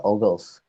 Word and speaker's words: Vogel: Jadi dari optimalisasi ini yang terakhir adalah metode FAM, VAM atau dibacanya ini Ogles. Ogles Approximation Method.